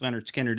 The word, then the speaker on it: Lynyrd Skynyrd: you can say about pronounced Leonard skinnard it's the one that